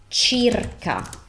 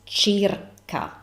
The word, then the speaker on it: circa: So this is circa, not circa. Why? Because we never ever pronounce that consonant as s. We either pronounce it as chi, like in this instance, or k, but never ever pronounce the c as in English.